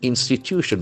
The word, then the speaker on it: institution: must be announced instit in institution there are four syllables and the accent falls from the third syllable institution institution a part